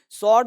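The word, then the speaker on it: sword: स्वॉर्ड में डब्लू क्या है, साइलेंट है, स्वॉर्ड, ये डब्लू को हटा दो, स्वॉर्ड।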